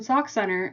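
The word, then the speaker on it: Sauk Centre: So, let me tell you, it's sock center. Okay? Sock like what you put on your feet. Center like the center of a circle. That's how you pronounce that word.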